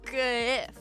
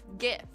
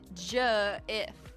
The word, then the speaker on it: GIF: And because it's spelled G, I say GIF. GIF. Not J-if. Get it straight. You're wrong if you say J. You are incorrect. Explain yourself why you think if it should be Jif when it's spelled G-if.